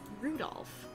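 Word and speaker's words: 留弗夫: Anyway, this guy's name is pronounced Rudolph.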